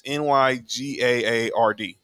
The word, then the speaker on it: Nygaard: It's Nygaard.